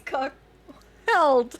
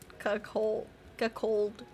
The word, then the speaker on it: cuckold: The H is silent. Cuckold.